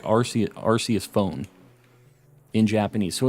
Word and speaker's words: Arceus: think Legends verified its Arceus Arceus with a hard sea given the arc phone